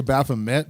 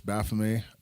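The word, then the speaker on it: Baphomet: lot of people say B met but the T at the end of a word in French is silent so it's Baff um anyways some interesting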